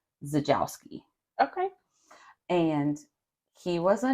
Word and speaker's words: Czajkoski: is it's Dennis and the name starts with a C but when I heard it pronounced they were saying zajowski okay and he was